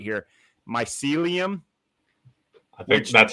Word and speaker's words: mycelium: I'm gonna try and say it right here, mycelium. I think that's how I've been pronouncing it.